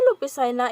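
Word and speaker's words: López Jaena: so next is graciano lopez china so graciano lupisina in tagalog pronunciations lopez china december mart was born on december 18 1856 and died on january 2018 96.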